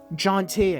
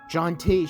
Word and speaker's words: Jonte: what is your name jonte i told her wondering if she'd ever heard it before jontay she said pronouncing it like shantae smile for me handsome